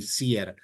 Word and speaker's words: CIR: empresa que se llama chier en italiano en español pronunci cier c i r compañía italiana de